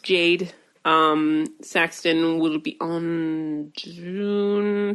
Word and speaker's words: Jade: It is pronounced Jade.